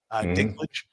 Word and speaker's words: Dinklage: So, by the way, Nick says, Peter, that's how you say it, Dinklage.